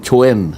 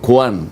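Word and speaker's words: Quan: Oo ang pronunciation Chwen. Chuen. Ah Jing Chen Chen Jing Chen ayun Jing Chen. Your excellency ambassador Jing Chwen mo huwag mong sasabihin kwan. Oo Jing Chwen.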